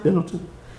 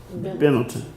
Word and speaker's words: Benetton: Benetton. And, you know, for those who may not know, it's an international clothing chain. And I'm like, we got a whole country. I'm sorry? Pendleton or Billington? Benetton, yeah.